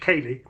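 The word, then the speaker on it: céilidh: Irish or Scottish dances that's pronounced the same way but written c e i l i dh kay that means to visit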